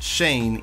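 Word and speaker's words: Schoen: and joe shane yeah it's pronounced shane even though it's spelt shone i don't trust this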